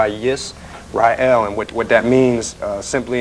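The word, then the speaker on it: ישראל: Okay, the name actually in the Hebrew language, it's pronounced with Yisrael.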